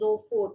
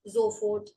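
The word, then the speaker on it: sofort: get it right away right zford s is pronounced as z whenever it is in front of a wall. So this is Zohfort not so called Zoffort right away.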